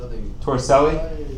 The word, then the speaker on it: Torricelli: you say that yes so how you would pronounce it tor Sally ok so an Italian scientist torricelli remember this last name ok you're going to